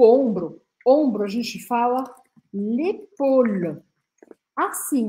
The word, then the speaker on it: épaule: L'épaule.